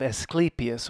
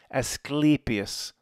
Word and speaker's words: Asclepius: Like sleep, the way to remember it, and it's one of the hardest things to remember. I've had to refer to the pronunciation. Every time I've ever looked at this, I forget how to say it. I have to go back, and I've looked at it several times over the years. It's like the best way to remember. Sleepy, you're getting sleepy.